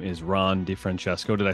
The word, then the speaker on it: DiFrancesco: The good Italian pronunciation. No, I know some other DiFrancescos, but they say DiFrancesco. Yeah, it is. Well, the C in Italian is ch.